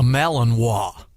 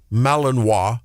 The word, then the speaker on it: Malinois: with a dog, and it was the Belgian, pronounce it again, John? A Malinois. Malinois.